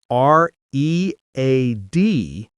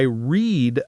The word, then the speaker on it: read: It's spelled the same r e a d. But in the past we pronounce it like read. Today I read a book.